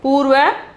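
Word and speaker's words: पूर्व: Here the first one is Purva. Purva, Purva, Purab. Purva, Purab. Okay, pronunciation is Purva, Purab.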